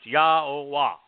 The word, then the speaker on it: Yahowah: Yahowah, God's one and only name, pronounced Yahowah, based upon Haya, to exist, examines the genuineness, observes,